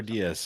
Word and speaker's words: Diaz: Oh yeah, it's Emperor Diaz, like Cameron Diaz.